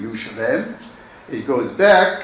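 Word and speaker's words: ירושלים: The oldest known and most common name of the city is Jerusalem, or as we would pronounce it in Hebrew, Yerushalem.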